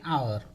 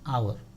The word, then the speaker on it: hour: Okay, we are saying hour because H is silent here.